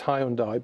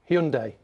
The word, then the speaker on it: Hyundai: I always pronounce it Hyundai Hyundai well apparently let me read it everyone says it's Hyundai but it's not it's Hyundai Hyundai Hyundai but there's